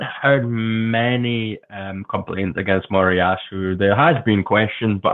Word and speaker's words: Moriyasu: Um is it Moriyasu? Um that's to excuse some of my pronunciation. No, no, how do you how do you say Moriyasu?